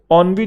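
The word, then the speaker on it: ennui: ऑनवी जो है वो कह रहा है when pronounce sound quite similar to annoyed, है ना, ऑनवी एनोए मिलता जुलता है, एनोए ऑनवी, हाँ बिल्कुल है।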